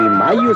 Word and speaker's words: Mallo: Y Mayo se escribe como gallo, L-L-O, Laboratorios Mayo.